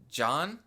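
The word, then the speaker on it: Jean: should pronounce his name it's kind of spelled like gene but they kind of say john like john so i just say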